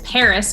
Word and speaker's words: PVRIS: bit as well um the other one is paris but it's spelled with a v instead of an a and that was a copyright issue um so it's pvris paris is super chill i highly